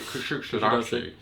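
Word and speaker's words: Kuşadası: You've got to say it like Sean Connery. Kusadasi.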